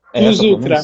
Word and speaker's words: Plus Ultra: Tá certa a pronúncia, é isso mesmo, professor? Plus Ultra. Plus Ultra, mais além. É latim.